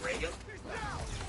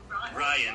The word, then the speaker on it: Ryan: Did you say Reagan? Ryan. Rogan. Am I pronouncing that right? No, Ryan. R-Y-A-N. Oh, Ryan.